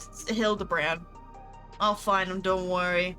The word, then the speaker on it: Hildibrand: Hildigrand. It's Hildabbrand.